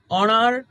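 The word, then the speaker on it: honour: তো এরপরে যদি কোন ওয়ার্ডের শুরুতে এইচ থাকে এবং উচ্চারণে এইচ সাউন্ড অনুচ্চারিত থাকে পরবর্তী ভাওয়েল সাউন্ড দিয়ে ওয়ার্ডটি উচ্চারিত হয় তবে ওয়ার্ডটির আগে এন বসে। যেমনশি gave N অনার টু the best student.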